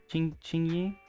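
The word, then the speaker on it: Qingyi: Ching Yi, I think is how it's pronounced.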